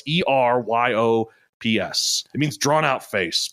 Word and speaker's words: Eryops: It's Eryops or Eryops. Eryops. What was Eryops? Yops. Yeah, I always thought the Y was and the R were switched. But no, it's Eryops.